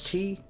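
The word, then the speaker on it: ち: Okay, first exception is chi, which starts with the ch instead of the t and adds a soft h sound.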